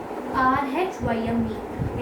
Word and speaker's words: rhyme: R-H-Y-M-E. It has R before it. So it goes silent.